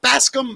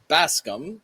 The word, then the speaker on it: Bascome: Basum. Is it Baskam? Is that how you say it? It's Basum. Baskam.